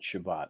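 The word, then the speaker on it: Chabot: enjoyed that one huh so they do pronounce it shabbat how about that yeah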